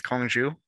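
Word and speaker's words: 空竹: The Diabolo is pronounced different things in different parts of China. The one that I'm familiar with is Kongju, which roughly translates to hollow bell.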